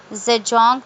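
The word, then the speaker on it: Zajonc: This explanation was given by Je- Zedong. This name is pronounced to rhyme with science.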